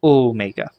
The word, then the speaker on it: omega: And Omega has a long O sound, so Omega.